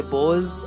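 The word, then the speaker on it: boughs: देर बॉस अब और यह जो लिखा हुआ है पीहू जी है वह साइलेंट है उसे बॉयज बढ़ेंगे और बॉयज का नीचे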